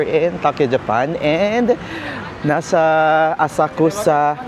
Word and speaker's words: Asakusa: It's our first day here in Tokyo, Japan and nasa Asakusa or Asaksa. Yun iyung tamang pronunciation. Yan, sinech natin. Medyo silent u daw.